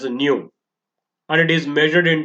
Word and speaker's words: nu: It is pronounced as nu, and it is measured